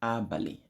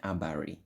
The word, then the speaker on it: Abali: The word is pronounced Abali, Abali. Okay, you might have variations like Abari. You can have variations like Abani. Okay, but we are going to be using Abali. Okay, Abali.